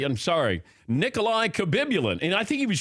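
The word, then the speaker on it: Khabibulin: Nikolai Habibulin. Yes, with a K. Yeah, it was Nikolai Kabibulin.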